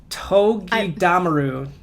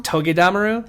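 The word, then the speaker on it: Togedemaru: Togedamaru. I think you're putting the stress on the wrong syllable. Togedamaru? I think it's Togedamaru.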